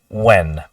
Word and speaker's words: when: when you have it you don't even say the H you don't say Wen you just say when now I don't need